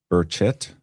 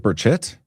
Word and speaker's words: Burchett: Burchett? Is it Burchett? Now I'm confused. No inflection on the last syllable. Burchett?